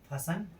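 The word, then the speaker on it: hasten: जब किसी वर्ड के अंत में टेन हो तो टेन अर्थात टी हो तो टी का उच्चारण नहीं होता है। ऑफन अक्सर लिसन सुनना हसन जकड़ना सोफन नर्न करना।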